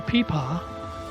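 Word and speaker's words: pipa: If you Google peepaw, and it's spelled P-I-P-A, you'll discover it's a Chinese stringed instrument, and this is basically where your hands are when you're playing it.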